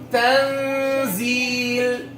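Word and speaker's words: تنزيل: You're touching too much. You're touching the I'm touching the gum right away. I'm touching the noon. I'm touching the upper gum, means I'm pronouncing the noon. I should not move my tongue. My tongue should remain resting on the lower incisors, right?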